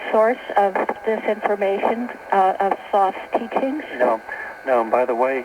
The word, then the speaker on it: Thoth: Is that the source of this information, of Thoth's teachings? No. By the way, he calls himself, he pronounces it Thoth.